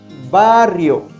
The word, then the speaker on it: barrio: the rolled r first we pronounce it when a word contains the double r listen to this barrio secondly we use this